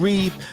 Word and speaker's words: Reep: One is pronounced Heffron, but spelled Heffron. The other one is Reep, spelled Reep. We got a big show.